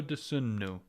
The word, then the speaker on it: Dosunmu: Ayo Dosunmu.